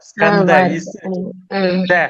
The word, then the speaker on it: ஸ்கந்த: ஸ்கந்த அப்படிங்கிறது சமஸ்கிருத வார்த்தை, ஸ்கந்த. சரி சரி. கந்த அப்படிங்கிறது தமிழ் எழுத்து, கந்த குரு கவசம்.